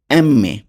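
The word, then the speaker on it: emme: এম এর উচ্চারণ হবে এম্মে, নট এম।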